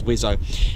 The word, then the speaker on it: WSO: the wizard I suppose it's a wso quickly pronounced as wizo now it's the weapon